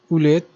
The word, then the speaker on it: ulit: salamat means thank you ulit is pronounced fast note the fast stretch mark above letter i in many instances uli is used instead of ulit they're both pronounced fast